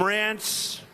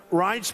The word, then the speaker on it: Reince: And I said before, nobody knew how to pronounce his name. It's a crazy name. They called him Rance. Steve Wynn just called him. He's still not pronouncing it right, Steve. But Reince Priebus, now everybody pronounces his name right.